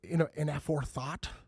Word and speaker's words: Inaforethought: This week we got the fellas from Inaforethought. Did I say it right? Inaforethought.